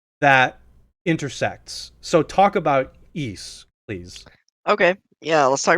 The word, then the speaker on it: Ys: intersects so talk about eise please okay yeah let's talk about east a little bit so eise or which is spelled ys i'll type it in